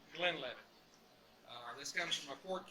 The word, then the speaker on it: Glenlivet: enough now glenn levitt it is pronounced the glen levitt this comes from a